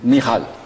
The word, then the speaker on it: Michal: Michal. Voilà, c'est la prononciation hébraïque.